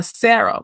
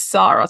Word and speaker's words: Sarah: was Sarah, yeah, and her American colleagues would insist on calling her Sarah, but that's not her name. Her name is Sarah.